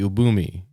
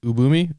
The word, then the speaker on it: Ubume: to talk about the Ubumi. I think that's how you pronounce it. Uboomi. Ubome. Ub Ubume. I think it's Ubume.